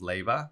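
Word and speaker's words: Leiva: coffee and is my last name is Leyva and it's l-e-i-v-a and it's pronounced like laying back lavas yeah it's a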